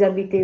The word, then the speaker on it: habitez: Ecco perché si legge vous habitez où. Perché la desinenza è Z, senza nessun accento.